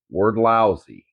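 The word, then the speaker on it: Wrdlsy: name of company is word lousy now it's spelled odd so it's w r d l s y but it sounds like word but there is no o in it but it's word lousy and they make welders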